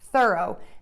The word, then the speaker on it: thorough: Next we have thorough. This is a two-syllable combination here.